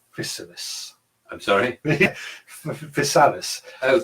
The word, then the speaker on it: Physalis: Physalis. Physalis. Chrysalis. Yeah, that's probably the way to do it.